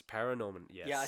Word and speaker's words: ParaNorman: for their feature film works such as Coraline, Paranorman, and Kubo and the Two Strings. Say it again. Paranorman. It's Paranorman, yes.